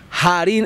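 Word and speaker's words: Harín: Jarín el Indio, la única H que no es muda. Jarín, se escribe con H, Jarín. Pero suena Jarín, porque está Ja, ya sabemos que es Ja.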